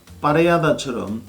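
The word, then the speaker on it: Parellada: 이 스페인 와인 용어에서 특히 발음에 주의해야 할 부분은 바로 LL 두 개가 겹치지는 경우인데요. 이 경우에는 야라고 발음이 되죠. 후미야, 템프라니오, 파레야다처럼 LL이 두 개 겹치지는 경우에는 Y로 발음을 하시면 됩니다.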